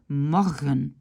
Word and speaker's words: morgen: Donc, on peut dire morgen, morgen, ram, ram.